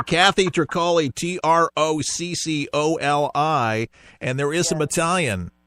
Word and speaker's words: Tricoli: It's spelled like broccoli with a T. I've gotten that my whole life. You know where I was going. All right, Kathy Tricoli, Troccoli, and there is some Italian in that blood of yours.